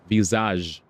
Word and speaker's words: Visage: Visage. The S is silent.